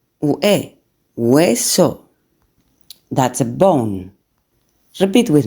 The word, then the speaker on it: hueso: O hueso, UE, hueso.